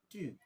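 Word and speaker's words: tu: this is not 2 this will be two two you have to produce little bit wind from your mouth two two that means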